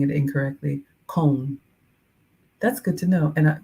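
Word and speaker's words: Köln: earbuds I'm not doing that ah Jurgen says cone oh cologne is Cologne Germany is pronounced and I know I'm saying it incorrectly cone that's good to know and yeah thank you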